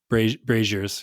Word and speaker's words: braziers: Braziers, yep.